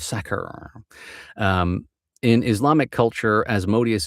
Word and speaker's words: Sakhr: I'm going to go ahead and say Sakhr. Like if you are saying sack, and you just kind of trail off Sakher.